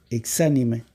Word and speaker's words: exánime: Otra palabra es examíname, de la palabra, exánime, acento en la A, exánime, que significa sin señal de vida o sin vida, exánime.